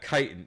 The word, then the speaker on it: chitin: ever it's every word I swear uh yeah chitin so like you see that there are like pieces of this like chipped chitin plating that seemed to be embedded in uh